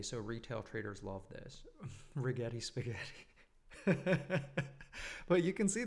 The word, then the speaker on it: Rigetti: This one rhymes with spaghetti. So retail traders love this rigetti spaghetti.